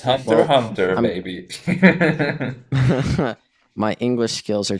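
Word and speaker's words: Hunter x Hunter: well which is why i never pronounced the x it's just hunter hunter maybe my english skills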